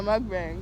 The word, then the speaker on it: mukbang: Yeah, mukbang.